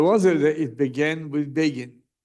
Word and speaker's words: Begin: So, they say Begin rhymes like Fagin.